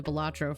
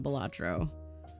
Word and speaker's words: Balatro: I got really into Balatro for a while. I can still sink an obscene amount of time into Balatro.